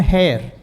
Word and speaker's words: hare: Hare itu dibacanya kan hair, kelinci kan ya?